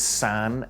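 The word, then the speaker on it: 三: second reason is because the pronunciation of three and nine in Japanese is sun and Q which sounds like sound cool that phonetic play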